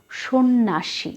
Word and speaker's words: সন্ন্যাসী: দারিদ্র এবং এরপর আছে সন্ন্যাসী সঠিক উচ্চারণ সন্ন্যাসী এ বানানটাও ভুল হয় দুটো ন এর সাথে জ ফালা ঠিক আছে সে কারণেই কিন্তু এখানে কোন পরিবর্তন হয়নি বিষয়টি তোমরা খেয়াল রাখবে